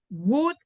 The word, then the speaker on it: would: Would enjoy. Would, oh, it's difficult. Will enjoy. Yes. So it's could and would Would. and Okay. should. In all of them, L is silent.